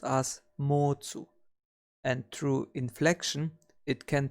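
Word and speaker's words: 持つ: To hold or to have is pronounced as motsu, and through inflection it can transform into mochimas or mochimashita, and thus we can easily remember it as too much.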